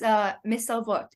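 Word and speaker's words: מסרבות: First of all, my name is pronounced, as in, yeah. Yeah, that's part one, and it's Mesarvot.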